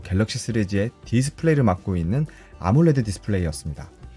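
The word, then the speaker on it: AMOLED: 시리즈의 디스플레이를 맡고 있는 아몰레드 디스플레이였습니다. 아몰레드 디스플레이는 AM, OLED를 붙여서 발음 불리는 대로 네이밍을 한 삼성의 OLED 디스플레이 상표명입니다.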